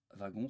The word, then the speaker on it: wagon: exemple un wagon attention wagon se prononce avec un v comme wagon mais week-end attention